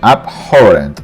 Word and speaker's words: abhorrent: Pronunciation, abhorrent, stress on horror, abhorrent, abhorrent. Precise, stress on size, precise, precise.